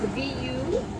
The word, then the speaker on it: Vuori: And it's spelled V-U-O-R-I.